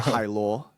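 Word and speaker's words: Hailuo: It's actually But Hyrule, like a sea oh, like a sea snail. Hai means oh, ocean, and lore is like luosi, it's like one of those snails in the ocean.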